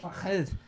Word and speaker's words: Fahad: Oh, hey, but you just said it wrong. It's right. Fahad.